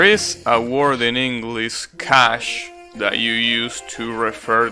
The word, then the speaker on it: cache: know anyways there is a word in english cash that you use to refer to money right but there is another word in english that is cash and it refers to the memory that a